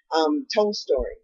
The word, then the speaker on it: Tolstoy: Tolstoy, is that how you say it? Okay, she said it's pronounced Tolstoy.